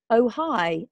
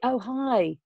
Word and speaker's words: Ojai: It's wonderful to pronounced Ojai, about an hour from LA. Ojai.